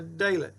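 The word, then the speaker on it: ד: A dalet. And that letter is a D as in day.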